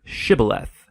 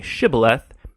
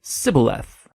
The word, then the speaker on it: shibboleth: and asked everybody who wanted to cross to pronounce the Hebrew word shibboleth it turned out that the ephraimites had grown up pronouncing that word differently so instead of saying shibboleth they would say sibileth when that happened the gilianite guard would execute